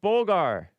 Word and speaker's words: Bulgar: Bulgar with the stress on the first syllable rhyming with uh pulfur or wholeer. Bulgar. Nice. Thank you. Bulgar Wolf here. Let's see. We are Bulgar.